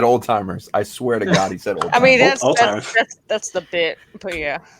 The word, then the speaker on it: Alzheimer's: I can never pronounce it properly. Alzheimer's. Yeah, Alzheimer's was last year, I believe. Did you say old timers?